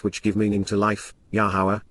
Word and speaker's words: Yahowah: give meaning to life yahwah yahwah the proper pronunciation of the name of Ilah God has directed in